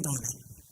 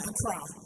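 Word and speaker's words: Accra: They're located in Donna in Ara. They're in Ara. They're in Ara. I never pronounce it right.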